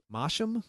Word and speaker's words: Masham: Masham?